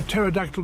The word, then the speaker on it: pterodactyl: Why can't you hear a pterodactyl going to the bathroom? Because the P is silent.